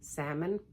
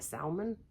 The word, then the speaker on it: salmon: time saying the word salmon sometimes it come out of salmon no it's salmon you don't pronounce the L I know this but